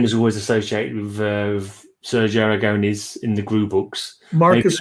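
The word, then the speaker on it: Sergio Aragonés: me i'm i'm happy i know sergio aragones yeah i think i even pronounce it almost correctly so uh that's about as good as that's that's the proper pronunciation truly yeah when it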